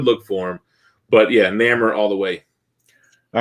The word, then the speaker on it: Namor: always said growing up, I said a soft A like Namor, and then ER. That's how I always pronounced it. Well, it looks like name, but with an OR at the end almost, right?